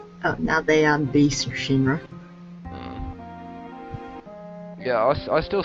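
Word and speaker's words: 神: is based on chinese whereas um kami would be the kun reading which is based on japanese pronunciation so it's all that it's shin rather than kami and she also is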